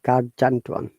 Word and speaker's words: gargantuan: It should be hard G or Ga. So is it gargantuan or gargantuan? Let's find it in a moment. Okay. So it is Gargantuan.